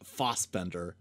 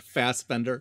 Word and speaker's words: Fassbender: also i'm sure people will note this i think that it's pronounced fosbender not fastbender indeed uh so you know